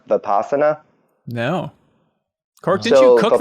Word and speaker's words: Vipassana: you guys ever heard of, I think it's pronounced Vipassana?